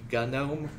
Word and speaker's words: GNOME: into it later but it's technically pronounced gunome but I'm not going